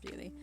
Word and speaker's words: Beulah: Beulah Shepherd, pronounced Bewley.